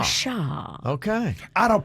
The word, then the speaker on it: gua sha: But it's gua sha. Gua sha. Washa.